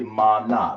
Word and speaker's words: manna: But people spell it manna, but it's really mana. That's how it's pronounced.